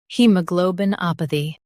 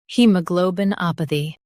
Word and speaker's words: haemoglobinopathy: In U.S., stress a in p. In U.K., stress op.